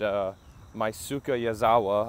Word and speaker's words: Yusaku Maezawa: And I thought I would come somewhere this morning after this big announcement by SpaceX and Yusaku Maezawa, I believe is how you pronounce his name, that SpaceX and planet Earth are coming back to the moon.